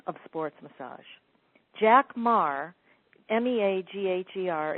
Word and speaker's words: Meagher: Jack Meagher, M-E-A-G-H-E-R, it is pronounced Meagher, is the founder of sports massage and was a pitcher for the Boston Braves in the late 1930s and 1940.